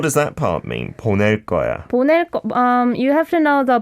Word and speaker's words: 거야: Like you have to pronounce the ko in a tensed way. 거야. 보낼 거야. 보낼 거야. Yes. It almost sounds like a 상기역. 보낼 거야. Yes. Even though it's spelled 거야.